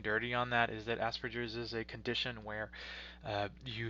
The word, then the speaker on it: Asperger's: qualifying characteristics for autism you may have heard of asperger's sometimes incorrectly pronounced asperger's syndrome for people who have